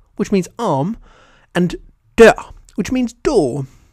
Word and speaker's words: dør: In neither example is the R pronounced, but note that in the last example, the R has an effect on how the word is pronounced, even though the letter itself can't be heard.